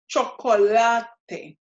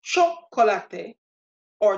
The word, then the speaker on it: chocolate: of the seven letters it means the stress is going to be on the second-to-last syllable which in this case Ted is your last syllable so the second-to-last would be the one before that which is LA so this becomes chocolatey shop quality not chocolate a top quality or chocolate a but chocolatey let's try a few